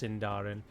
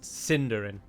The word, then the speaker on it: Sindarin: delighted in reminding me that it's not actually pronounced sindarin it's pronounced cinderin um but um my question to you would